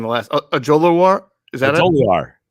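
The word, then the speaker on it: Ojulari: Mike's a dialed-in guy, so that tells you that Azeez, and you did a better job pronouncing the last Ojolari. Is that Ojolari? Ojolari is.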